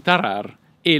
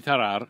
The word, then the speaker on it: Tarrare: a faccio una premessa la prima rd tarar è una vibrante ovulare andrebbe pronunciata molto moscia per esser spicci alla